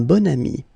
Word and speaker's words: bon ami: And the first one, un bon ami. Okay, so you can see that here you've got this adjective, bon, okay, and then you pronounce it bon ami when you make this link.